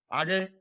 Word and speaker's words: age: Like I love Age. Is that how we pronounce it?